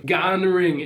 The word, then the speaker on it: Gonring: Gonring is not that hard to pronounce. It's like just how it's spelled.